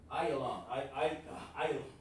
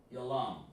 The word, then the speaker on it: Elam: Elam is called Ayalam. Oh man. On there, it's hard for me to pronounce that sometimes. Ayalam. There we go. Yalam. Alright? That's Elam. Ayalam. Even sounds like it.